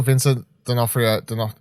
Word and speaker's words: Vincent D'Onofrio: Look, if at the end of this they reveal Vincent D'Onofrio, is that how you say his name?